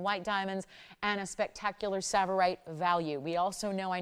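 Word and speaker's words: tsavorite: you money on saites because this tea is silent so you see it's savorite from Kenya it's a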